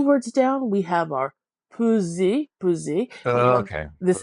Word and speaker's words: peser: and this S between two vowels is sounding like a Z. And then Uh-huh. oftentimes the letter E without an accent is giving us that sound.